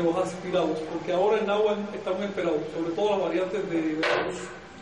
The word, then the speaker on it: náhuatl: Aquí lo escriben de esta manera porque esta H representaba un saltillo. Que si lo escribimos fonéticamente, utilizando el saltillo, y con W, perdón. Podemos pronunciar náhuatl.